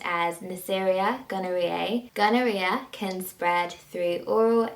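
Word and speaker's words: Neisseria gonorrhoeae: gonorrhea is caused by a bacteria which is pronounced as neceria gonorrhea gonorrhea can spread through oral anal or vaginal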